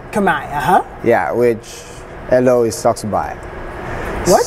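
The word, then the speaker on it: សុខសប្បាយ: Khmer, Yeah, which hello is Saksubai. What? Saksubai. Saksubai is like, hi, how you doing? Saksubai. It sounds like you're saying, yo, sexy guy. Saksubai to you guys. Saksubai. And Saksubai to you, Martinz. Saksubai te.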